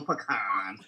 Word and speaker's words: pecan: napkin too okay because it rhymes with tan i know pecan do you guys